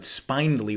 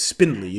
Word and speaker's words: spindly: a beautiful spindly spindly i'm tempted to pronounce it spinely when i see it written out but it's spindly that makes me think